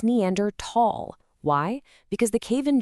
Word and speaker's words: Neanderthal: But in the scientific community, it's Neander Tall. Why? Because the cave in Germany where their first fossils were found is the Neander Valley or Neander Tall, pronounced with a hard T.